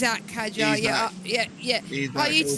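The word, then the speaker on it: Isack Hadjar: The The one that really annoys me is when people say Isaac Haja instead of Isaac. It's Isak Hajar.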